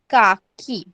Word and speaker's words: काकी: KAKI, काकी.